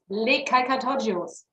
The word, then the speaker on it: Les Calcatoggios: You just pronounce it as you write it. Yeah, you just can just say it's the same as you read.